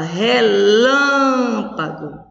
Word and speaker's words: relâmpago: tônica na na palavra relâmpago qual é a sílaba tônica lan então nessas palavras a